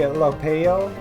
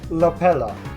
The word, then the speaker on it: Lopelo: You pronounce it right when you enunciate the L. So, Lopelo. Okay.